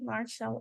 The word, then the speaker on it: martial: martial arts martial arts you see martial arts if you notice this sound like a sh martial arts so did